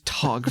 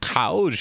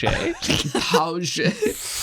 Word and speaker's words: Tauge: My name is Tog. Yeah. No one could ever expect me. Tag Walter. In the father tongue, it's pronounced Tauge. Tauge.